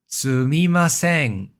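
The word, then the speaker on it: すみません: Sumimasen. That's the pitch contour with the mimasen being high pitch.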